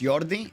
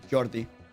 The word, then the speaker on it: Jordi: you say so but in Spanish uh Jordi be pronounced yordi it depends uh most regions yes in some regions no but most regions in biordi but some regions it would be Jordi you know just depends